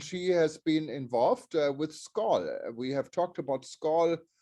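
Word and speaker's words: Skål: but for those of you who don't know skull it's the organization that promotes tourism on a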